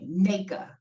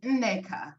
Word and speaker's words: Nneka: Nneka. But as I just want to say, Nigerians will say it's actually Nneka. That's how you really say it. But, I pronounce it Nneka.